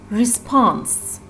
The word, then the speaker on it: response: And look at the other noun, response. Response. Here, the stress part is pons part.